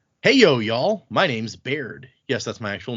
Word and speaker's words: Baird: My name's Baird.